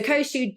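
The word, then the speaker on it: Koshu: and the great variety they make there was koshou and I'll tell you a little bit more about their Winery a bit later but so koshou generally speaking is grown in koshou Valley in the yamanashi prefecture so that's where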